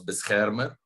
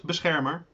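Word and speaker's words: Beschermer: the three one was best harmer or beth herming i have seen both and i'm probably mispronouncing it that was the flagship i'm sorry it's good bizhamer yeah and that ship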